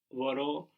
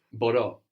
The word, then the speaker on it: μπορώ: odd verb in that it carried the accent on the ending. Do you remember how that was? I can? Μπορώ. Μπορώ.